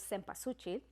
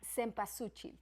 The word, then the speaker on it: cempasúchil: And like, the main flower that we use is the marigold, that in Spanish is called cempasúchil. That I said, Misty, that she has to pronounce it.